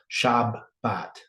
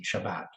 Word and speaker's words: Shabbat: And then if it has a dot in the center, that means you double the B in your pronounce Shabbat, right? It's still going to sound the same, Shabbat, but it's pointed differently than 7673, right?